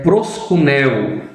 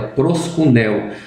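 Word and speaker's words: προσκυνέω: A primeira é proskuneo, essa é a pronúncia correta, proskuneo.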